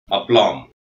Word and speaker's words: aplomb: சிவப்பு பெட்டியில் குறிக்கப்பட்ட எழுத்து இந்த வார்த்தையில் உச்சரிக்க கூடாது. அப்ளாம். A P L O M B. Aplomb.